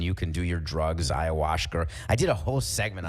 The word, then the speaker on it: ayahuasca: Ayahuasca, like babush. It rhymes with babushka.